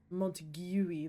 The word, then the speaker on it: Montague: It's Montague, that's how the locals pronounce it.